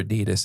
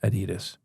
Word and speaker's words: Adidas: But believe it or not, my old roommate used to work for Adidas, and it is not pronounced Adidas. It's Adidas. It's a German company.